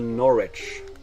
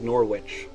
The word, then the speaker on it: Norwich: I recently went to Norwich and it's like why is there a w in Norwich it was it probably used to be pronounced like norwitch because of like the